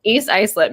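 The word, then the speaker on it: East Islip: can't remember oh man East ielp not spelled the way it's pronounced any listeners out there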